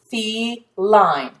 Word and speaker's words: feline: And this is a silent E, which means that both of these vowels are going to be long. E, fee, line, line, feline, feline.